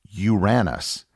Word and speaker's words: Uranus: a totally different name early English dictionaries had the word pronounced as Uranus as in you ran us over with your car once the existence of